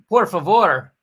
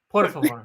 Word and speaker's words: por favor: And please, por favor. You don't roll your R's at all? Por favor. Por favor. Por favor. Por favor.